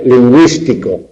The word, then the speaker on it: lingüístico: La diéresis o crema, pues para indicar en el grupo GUE que esa U se pronuncia. Cigüela, lingüístico.